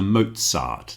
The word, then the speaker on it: Mozart: Nazi and also the composer Mozart takes the same pronunciation.